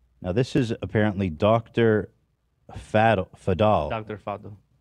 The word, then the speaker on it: Faddel: this is apparently Dr fidal how do you say it father because he's Lebanese yeah foddle also giving me Dr